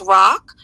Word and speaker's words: RoC: I say the name, I think it's Rock. Yeah, it's pronounced rock.